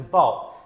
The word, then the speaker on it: bough: Write a word which can be pronounced in the same way as bough.